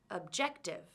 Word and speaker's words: objective: how many syllables does this word have objective 3 can you hear which syllable is stressed objective it's the second syllable now let's change the